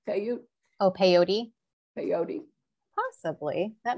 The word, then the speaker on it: peyote: If they did, I wonder if it's similar to Native Americans using, I don't know how it's pronounced, but P-E-Y-O-T-E, peyote?